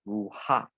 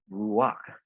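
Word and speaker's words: רוח: Now you do not pronounce this as ruha. Okay, but it's like here, the consonant and the vowel, you do not pronounce it this way, but you pronounce it this way with the vowel first, and then only the consonant. So you pronounce it as ruak, ruak, ruak.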